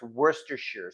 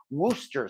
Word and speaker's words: Worcestershire: those many people who can't pronounce worcestershire sauce you know it's like Rochester shistershire sauce so wash your cistern sauce or Wooster sauce it's Worcestershire and I've known that